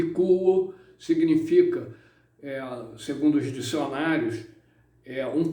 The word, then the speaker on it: quo: canais de pronúncia, e verifiquei que é quo, ou seja, o U é mais acentuado do que o O.